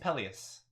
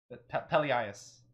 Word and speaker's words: Pelias: Peleus. Peleus? Pelias. Pelias? Yeah.